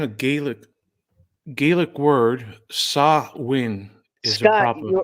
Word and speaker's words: Samhain: mm, Samhain, a Gaelic word, Samhain is a Scott, proper pronunciation.